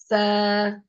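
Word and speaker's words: ث: tooth the S okay the tip of the tongue will be touching the upper tooth and this letter that is the letter s when pronounced there's a slight air flowing outside there's a small Gap and there's a slight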